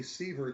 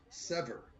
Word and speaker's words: Seaver: I called her Shea Seaver today was incorrect her last name her surname is pronounced sever what a shame she